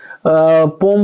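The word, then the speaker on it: poem: यहाँ पे जब लिखिएगा द पोम बोलिए या पोयम बोलिए, दोनों प्रोनाउंसिएशन आपका राइट है।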